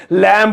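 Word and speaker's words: lamb: लैम्ब होता है, वो बी साइलेंट होता है उसमें, वैसा वैसा कुछ साउंड करेगा लैम।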